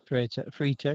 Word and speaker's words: Freitag: Semi-pro champ was, he told us how to pronounce this. Freitag, that's what I'm going to say it. Free tech. Freitag, yeah.